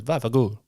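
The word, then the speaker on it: vaffanculo: But if you see it written out, it's like va fan culo. But when you hear an Italian man pronounce it, it's always vafagul.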